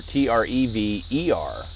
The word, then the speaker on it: Trever: And that's Trevor, Trever. I believe that's right. Yeah, it's not spelled like you'd expect with an O-R.